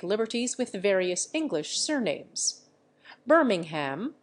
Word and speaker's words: Birmingham: with various English surnames Birmingham for example is pronounced brimming ham in Ireland end footnote end of chapter